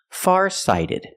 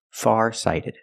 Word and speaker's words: farsighted: why he's farsighted pronunciation farsighted the t is pronounced like a fast D because phonetically it's between vowels pronunciation sighted sighted farsighted he's farsighted let's practice